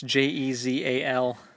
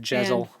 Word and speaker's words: Jezal: They said Giselle, so I have it spelled like the girl's name, and it's not spelled that way. No, it's Jezal. I thought it was like Jezel.